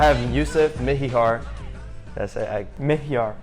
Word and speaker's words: Mihyar: Mihyar. Mihyar. That's two syllables.